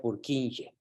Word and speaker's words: Purkinje: el fenómeno salón purkinje se escribe por quinque y se escribe con k por quinque se pronuncia por quinche salón doble n salón